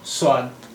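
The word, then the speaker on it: صاد: উর্দু ভাষার এই অক্ষরের এই হরফের নাম সাদ। সাদ সাদ এর উচ্চারণ হয় সা অক্ষরের মতো, সা, সাদ সা, সাদ সা।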